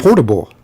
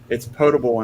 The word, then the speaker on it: potable: potable yeah well it was I call it portable right is it portable right well that's the proper pronunciation and I have oh okay manager wants to tell me there he's like it's potable and non-potable I was like what are you